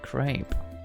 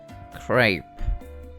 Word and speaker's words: crepe: was supposed to check how you actually properly pronounce that because i always feel like i'm saying it differently great crepe okay crepe crepe really despite the fact that there is no